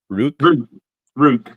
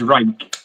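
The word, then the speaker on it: Ruike: Is it I was pronouncing it Rook, but I think it is rake.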